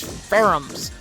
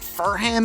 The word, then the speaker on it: Ferrum: and 2 Prayan S Ferrums. I don't know why I pronounced it Furham in that one episode. It's Ferrum, but you're going up against 2 of them now.